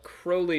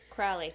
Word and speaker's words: Crowley: on stage for the second part of our crowley discussion crowley crowley i won last time remember you know ozzy